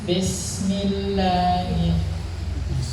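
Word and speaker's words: بسم الله: Nah, ketika mengucapkan kasrah yang sering kali keliru itu adalah kasrah diucapkan seperti huruf E. Bismillah, tapi bismillah. Nah, itu seringkali terjadi kesalahan.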